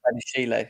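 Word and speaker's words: Badiashile: How do you pronounce his name? Badishele? Is it Badishele? Badishele, yeah.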